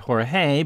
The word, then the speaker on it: Jorge: at Short Jorge Orta today we would pronounce it Jorge but in 78 it was Jorge Orta he's a 5